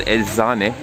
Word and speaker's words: Eczane: It's called Eczane. That's how you say it in Turkish.